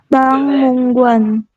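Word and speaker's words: 박물관: Yang pertama, di sini tulisannya bak. Kemudian ditambah dengan di akhirnya itu miem. Jadi Anda bacanya jadi bang. Seperti itu ya. Berubah bukan bak tapi bang.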